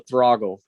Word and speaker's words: Throggle: T8, just like throttle, except for use GG instead of TT. Oh, Throggle.